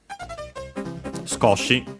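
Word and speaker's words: 少し: This one uh accent on the co scotchi. Notice also the uh sue with the barely heard if at all because it's within a voice consonants.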